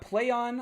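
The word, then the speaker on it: Plaion: next up we got play on I believe how you say it p l a i o n will publish Uncharted director's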